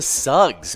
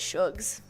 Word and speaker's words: Suggs: job suggs uh but if you want to announce it at suggs shugs yeah with an h like sugar oh yeah i guess i i just never think of uh yes yeah cause it's like slug with the you g yeah should no no no if it was slug it would be suggs yeah so i have